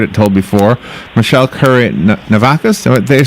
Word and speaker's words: Navakas: Michele Currie, Navakas, did they say it right that time? Yes, you got it. Navakas.